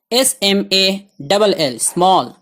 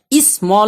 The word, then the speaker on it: small: SMALL small اسمال نہیں پڑھنا اس کو.